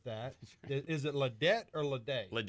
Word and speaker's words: Laday: Is it Ladette or Laday? Laday. Laday.